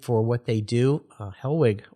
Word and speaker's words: Hellwig: what they do uh hellwig or helvig i guess is the way we used to say it right as good german yeah uh is the